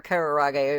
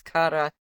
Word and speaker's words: karaage: No, but I think I said karaage or kararage or something before, but yeah, it's karaage.